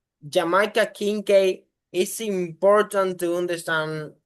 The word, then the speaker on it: Jamaica Kincaid: Readers like Jamaica Kincaid are like important that's the right pronunciation, yeah.